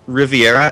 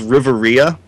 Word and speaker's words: Riviera: I was a kid I actually always mispronounced Riviera as Riveria and I think that